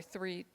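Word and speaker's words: Threatt: Um, they would fuel up at Threat Filling Station at, I'm sorry, three filling station is how you pronounce it.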